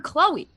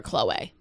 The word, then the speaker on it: Khloé: has ever called her chloe i don't think she ever has i think that she wanted to throw that accent on the e make it look fancy and then just called her chloe forever because i feel